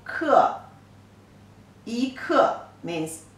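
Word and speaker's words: 克: It pronounces ke, e, ke.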